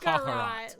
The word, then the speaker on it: Kakarot: Kakarot.